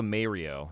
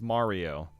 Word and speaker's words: Mario: That's like if you call Mario Mayrio. It's like, "No, he's not Mayrio, it's Mario." Got to say it right.